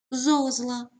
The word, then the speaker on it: зозла: наголос на першому складі зозла наголос на першому складі зрання наголос на першому